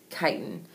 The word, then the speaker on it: chitin: That is how you say that word, chitin.